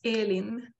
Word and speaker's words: Elin: you pronounce your name the way i pronounce my name is eileen which is the swedish pronunciation and what does your